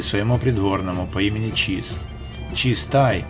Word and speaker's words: Чизай: Чизтай, по-венгерски имение Чиза, и в произношении с течением времени буква выпала, оставив современникам Чизай.